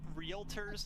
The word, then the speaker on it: realtor: What, they add a syllable in there?